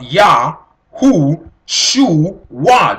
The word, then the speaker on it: Yahuwshuwa: Yahuwshuwa, we are talking about Yahuwshuwa. This is the correct pronunciation, the right write-ups of this particular name.